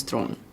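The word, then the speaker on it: Theron: played by chalice throne pronunciation of my last name is throne or thrawn if you're one of those mad lads clear tell stephen that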